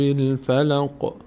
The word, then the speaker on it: الفلق: اعوذ قل اعوذ برب الفلق قل اعوذ برب الفلق قف فلق برب الفلق بربفلق روی قاف سعی کنید مقداری قاف وقتی تلفظ می‌کنین در مخرج قلقله داره می‌لرزه به ربالفلق به ربفلق